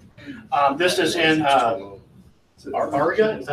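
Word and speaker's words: Auriga: This is in Ariga. Is that how you say it? Ariga.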